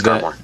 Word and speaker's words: Garmore: Garmore. However Garmore. you pronounce his name. That's how it's pronounced in the anime. It's Garmore.